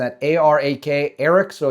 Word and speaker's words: Arak: The Israeli military said it targeted the Arak heavy, I believe I'm pronouncing that, A-R-A-K, Arak, so it's either Arak or Arak, heavy